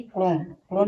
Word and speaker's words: chrome: इस बार देखिए CHROME क्रोम में एच साइलेंट है।